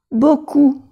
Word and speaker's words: beaucoup: Je tousse beaucoup. Aquí la P no se pronuncia.